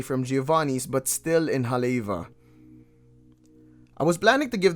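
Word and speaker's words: Haleʻiwa: realized it was pronounced haleiwa or haleva not halewa yeah so just so you know the w's within the word is pronounced as a v versus like the w's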